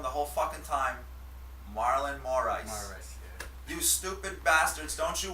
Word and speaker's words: Moraes: Marlon Moraes. No, it's Moraes.